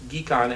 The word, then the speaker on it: GHECON: Health economics Consortium which I prefer to pronounce geekon as in get your geek on your economists will understand